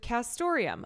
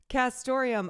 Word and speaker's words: castoreum: Castoreum, a classy antique-sounding word jazzed up by its neat near rhyme with Santorum, like Rick Santorum, stands in for all